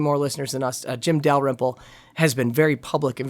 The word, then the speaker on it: Dalrymple: Now, if you are in Jim Dalrymple, how do you say his last name?